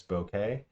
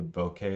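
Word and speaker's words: bokeh: we're going to say b-o-k-e-h which I Pronounce bouquet and really what it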